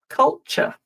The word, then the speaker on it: culture: So, while you're thinking, words ending t u r e. This is another one where I commonly hear mistakes and the ending is pronounced ch. culture, furniture, adventure, future.